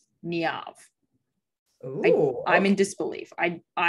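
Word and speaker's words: Niamh: right well it's interesting it says on the google that you pronounce this name niav i'm in disbelief i it's to me it's neon the internet says and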